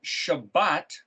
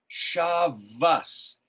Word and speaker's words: Shabbat: If you have the word Shabbat, shin bet tov, other people call it shavas, as if it was a V, S-H-V-S, shavas. Why is that? The Tav can be pronounced like Beth, Bethlehem, that would be Bethlehem. So there the Tav is pronounced as a TH.